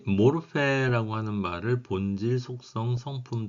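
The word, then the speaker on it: μορφή: 써있는 대로 모르페라고 읽습니다.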